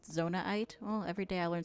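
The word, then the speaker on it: Zonaite: It's pronounced zonite.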